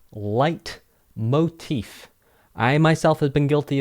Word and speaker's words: leitmotif: we're going to look at the difference between light motif theme and motif let's get started just a